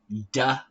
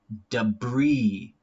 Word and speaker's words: debris: Debris. Debris.